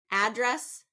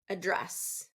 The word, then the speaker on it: address: with heteronyms is that for two syllable words if it's a noun it's first syllable stress if it's a verb it's second syllable stress address address now while we're on